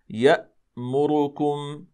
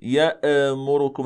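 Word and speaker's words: يأمركم: نقول مثلا مثلا مثلا يامركم يامركم ولا نقول يامركم هكذا يا هكذا نقلقل الهمزه هذا لا يصح اذا كما ذكرنا كما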